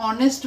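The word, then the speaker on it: honest: same इथं जर आपण घेतलं तर काय घेणार आहे आपण काय हे स्पेलिंग नेस्ट नाहीतर ऑनेस्ट बोलतो आपण ऑनेस्ट हा सायलेंट असतो म्हणजे इथ आपल स्टार्टिंग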